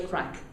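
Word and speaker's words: craic: And you have to have the crack while you're here. The word is spelled C-R-A-I-C, right? Very important that you understand that.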